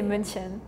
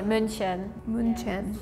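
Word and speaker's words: München: We say Munchin. Oh, you know the U with the two dots? It's like we pronounce it as uh so we say munchen.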